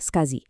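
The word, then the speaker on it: SCSI: Sementara itu, SAS adalah keturunan langsung dari Skazi yang dibacanya Skazi, sebuah protokol legendaris di dunia server dan mainframe.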